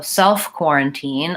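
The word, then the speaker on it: self-quarantine: spread of the infection so self quarantine I'm gonna stress on self and then quarantine has the same pronunciation great question okay so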